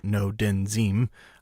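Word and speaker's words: Ngo Dinh Diem: accent no didn't seem that spelled NGO di NH di e M in his pronounced no den zeem I only know that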